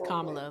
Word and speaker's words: Kamala: Her name is Kamla. Like, she did a whole thing at the DNC telling people how to pronounce her name.